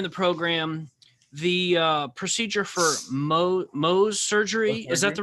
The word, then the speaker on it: Mohs: What about you mentioned earlier in the program the procedure for Mohs surgery? Is that the right way to pronounce that?